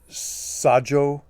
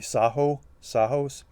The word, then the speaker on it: Sajous: If you phonetically enunciate it, it would be Sajous, but that J might be silent. It might be Sajous. I'm not quite sure.